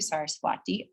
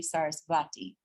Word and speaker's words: Saraswati: that with a W, Saraswati, or you'll see Sarasvati. They're the same. So that V and the W, it's like the pronunciation is like an in-between sort of thing.